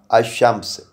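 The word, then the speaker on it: الشمس: यानी अशम्स, यानी यहाँ देखें लाम जो है ना अश के मानी में आ गया, यानी गुम हो गया। अशम्स, तो लाम को हमने दबा कर पढ़ा है, इसे इस तरह से अदा किया हमने।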